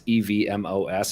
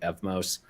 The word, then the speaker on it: Evmos: how to say it it's evmos i've been calling it fmos but it's an evm